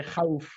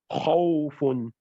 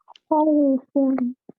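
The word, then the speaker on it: خوفٌ: But in Arabic, we also have high letters that are pronounced on a height, right?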